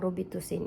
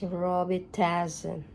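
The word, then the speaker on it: Robitussin: robit tazon roban talaga sa US daw guys ang pronounce ng robit tusin is Roby tazon according to my boss so ito yung ating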